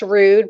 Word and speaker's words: Rouxde: the podcast remember people it's pronounced rude but it's spelled r-o-u-x-d-e where's mistake i thought